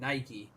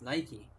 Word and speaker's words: Nike: that it would be Nike obviously but they pronounce it Nike so it's Nike Lulu they pronounce their name Nike so it's